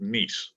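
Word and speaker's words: Nies: So we'll have Lindsay Poisel and also Colette Neese. Now, her name's a little unusual. It's N-I-E-S, but it's pronounced Neese.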